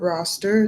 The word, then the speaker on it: Rostr: There's a site called Roster. It's spelled Rostr.